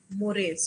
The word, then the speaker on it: mores: what are morris see this is written as morse but the pronunciation is mores okay mores are related